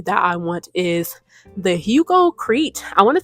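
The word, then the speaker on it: Hugo Kreit: And another piece of jewelry that I want is the Hugo Crete. I want to say his name. Hugo Crite. K R E I T.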